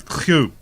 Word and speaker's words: Kew: Yeah, I think the correct pronunciation of that is Kew.